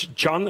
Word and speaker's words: John: your first name correctly because it's John and not son as I said before please welcome to the stage for the 19th freedom lecture mr.